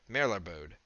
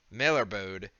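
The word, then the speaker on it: Melairbode: gaze upon the heart of mello board abode mailer bode and know the true power of dwarven kind mailer bode is spelled b o d m-e-l-a-i-r-b-o-d-e but if only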